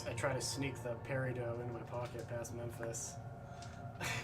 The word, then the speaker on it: peridot: A peridot. They're green little gemstones. They're semi-precious. Oh, peridot. Peridot. There we go. T is silent. Tomato, tomato. It's French. Peridot.